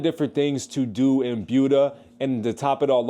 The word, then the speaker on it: Buda: And it's not pronounced Buda, it's Buda.